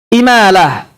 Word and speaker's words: imalah: Imalah. Apa? Bacanya imalah.